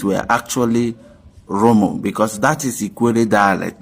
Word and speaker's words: Rumu: And then some other clans also call it Rumu, like Ikwerre does theirs, Rumu, because Ikwerre has more arrow in their pronunciation, in their linguistic.